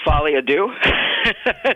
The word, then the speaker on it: Folie à Deux: time, and I have no idea how to pronounce it. How do you say it? Let's see if I can butcher it. Joker Folie à Deux.